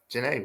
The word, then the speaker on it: Jennae: so Jan welcome to the podcast wait first of all have I said your name right Jan is that right yes you said it right